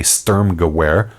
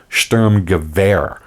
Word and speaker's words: Sturmgewehr: Now, most people say STURMGEWEHR, not surprisingly given its spelling. In German, however, the W has a V sound, so it's actually pronounced STURMGEWEHR.